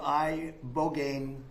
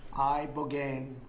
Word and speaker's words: ibogaine: And veterans with traumatic brain injuries underwent, it's called ibogaine treatment. Ibogaine. Remember the name. Is that pronounced relatively properly, would you say?